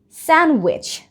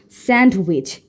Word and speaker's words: sandwich: Wednesday the next one is sandwich not sandwich sandwich sandwich sand sandwich I